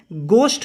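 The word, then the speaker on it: ghost: Guys गोस्ट है, यहाँ पे एच साइलेंट रहता है। आप अगर घोस्ट बोलोगे तो ये गलत हो जाएगा। गोस्ट आपको बोलना है। इसका प्रोनाउंसिएशन होता है गोस्ट, ना कि घोस्ट।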